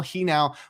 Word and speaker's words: Genao: I pronounced it wrong yesterday, but Angel Genao was recalled from the minors by the Guardians.